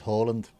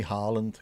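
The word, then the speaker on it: Haaland: Pronunciation he would say is Holland. But he said in England just call me Harland because they're used to it.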